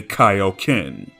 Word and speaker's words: Kaioken: Funimation would realize their mistake, as when they dubbed Dragon Ball Kai, they corrected it to say Kaioken.